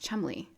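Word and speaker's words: Cholmondeley: It's pronounced Chumley.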